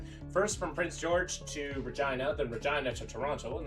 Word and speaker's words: Regina: It's not pronounced Regina. It's pronounced Regina because reasons.